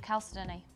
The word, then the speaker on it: chalcedony: And if anything, it's very comparable to a really pretty of chalcedony. Or how do you say it, Chloe? Chalcedony, chalcedony, chalcedony, chalcedony. Lots of different ways of saying the same gemstone.